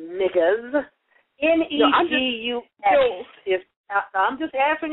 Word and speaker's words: negus: Ain't nobody finna stop me from saying niggas. N-E-G-U-S is, I'm just answering your question. Now you gonna let me answer? Okay. N-E-G-U-S is pronounced niggas, okay?